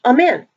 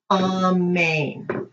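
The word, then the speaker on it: אמן: lane on main and most of you are you two saying amen and it's actually pronounced on main and lows of us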